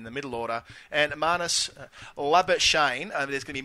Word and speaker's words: Labuschagne: There's going to be many ways of pronouncing his name, but we're going to go with Labuschagne because that's what he's asked for. If you can't use the Afrikaans hard R, then don't use it at all.